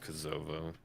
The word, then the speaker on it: Kosovo: think it's pronounced Kosovo. Kosovo? You think it's Kosovo?